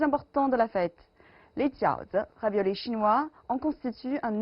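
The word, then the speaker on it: 饺子: D'ailleurs, à propos de la prononciation du mot jiaozi en chinois, elle ressemble à celle d'un autre mot, jiaozi, qui signifie l'alternance du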